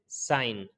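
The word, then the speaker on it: sign: है इसी तरीके से साइन एन से पहले जी आया तो भी साइलेंट हो गया इसी तरीके से कैंपेन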